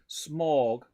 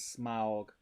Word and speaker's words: Smaug: says nathan uh mitch says did anyone else pronounce it as smorg until they saw the films and heard them as smog i think i think a lot of people